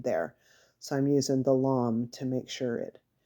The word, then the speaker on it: lame: Yeah, a lom is spelled L-A-M-E, but it's pronounced like L-A-H-M, which I totally don't understand.